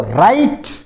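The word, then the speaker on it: write: फिर देखो राइट राइट यानी लिखना इसमें डब्ल्यू साइलेंट रहता है। यहां से बोला जाएगा राइट डब्ल्यू इसमें साइलेंट रहेगा।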